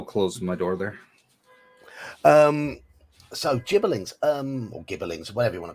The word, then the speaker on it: gibberling: I always called them gibberlings, but I was going with the soft G myself. Yeah, I'm a soft G person.